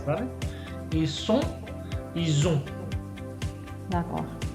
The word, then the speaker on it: ils ont: Ils sont, ils ont. D'accord. Y como pueden notar, yo digo on al final. No pronuncio la T, ni pronuncio la N.